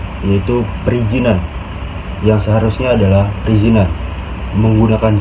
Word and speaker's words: perizinan: Analisa bahasa selanjutnya yaitu adalah salah pengucapan, yaitu perizinan yang seharusnya adalah perizinan, menggunakan Z bukan J, yaitu dari perizinan jadi perizinan.